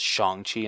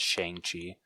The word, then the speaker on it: Shang-Chi: Well, actually, I think you're the one that like always is just like, guys, it's Shang-Chi, not Shang-Chi. Then I always felt bad when I would say Shang-Chi.